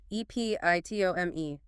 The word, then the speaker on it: epitome: Epitome, E-P-I-T-O-M-E, pronunciation. Epitome. Stress on the second syllable. Pit. 4 syllables.